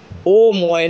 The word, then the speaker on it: ওম: নয় সৃষ্টির প্রতীকের ধ্বনি ওম এর প্রকৃত উচ্চারণ হলো ওম প্রশ্ন হতে পারে ওম